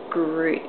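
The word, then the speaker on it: gruit: other spices and plants known as grute. It's spelled fruit, but with a G.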